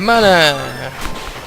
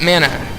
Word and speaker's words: Mana: we play Legend of Mana by the way some of you pronounce that Mana I think it should be mana and that's what I'm